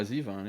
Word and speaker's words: Zevon: Yeah, Zevon. Yeah, Okay. Warren Zevon, yeah. Yeah, that's how I've always Okay. said Yeah, it. I mean, but I've heard yeah. other people say Warren Zevon.